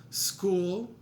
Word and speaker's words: school: A silent H by itself, school, Beethoven, which is actually